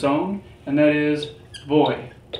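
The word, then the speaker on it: voy: own and that is boy remember the pronunciation of v and b same thing so boy so those are the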